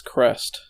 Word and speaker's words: Crest: according to the according to the wikipedia it's crest really cool that's like a common thing you're